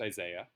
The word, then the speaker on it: Isai: is a guy spelled is AI is AI pronounced Isaiah and Isaiah is a North American player who